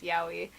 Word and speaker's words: yaoi: fun fact: 801 in Japanese is yaoi, so the number 801 is pronounced yaoi.